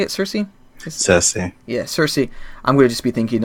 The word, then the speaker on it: Cersei: how do you say it Cersei assessing yeah Cersei I'm gonna just be thinking of Lina Henley